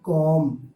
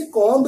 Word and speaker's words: comb: قاعدہ نمبر 1 ہے، اگر ایم کے بعد بی ہو تو بی ہمیشہ سائلنٹ رہتا ہے، جیسے COMB، کوم، بمانا کنگھا۔ ہم اسے کومب نہیں پڑھیں گے۔ اگر آپ یہ بات